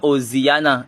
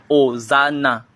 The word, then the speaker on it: Hosanna: Ce n'est pas Oziana, c'est hosan. Hosanna.